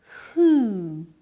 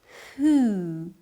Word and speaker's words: who: Who? Here, the W is silent. It's a long sound that starts with an aspirated H. Let's repeat. Who?